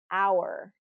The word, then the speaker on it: hour: And these are words that have a silent, very common words that have a silent H. And there are more words in English that have this silent H, but these are probably the most common, is honor, hour, herbal, air, and alleluia, alleluia.